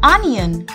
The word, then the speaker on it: onion: it is not onion the sound of o comes out to be a in this so we simply call it an onion say it once more